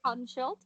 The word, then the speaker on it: Hodenshield: And do you say Hordenshield or Howdenshield or what? How do you say Horden? It's Okay. Jack Hodenshield. Because the wild child Jack Hordenshield doesn't rhyme. But that's just how it is pronounced.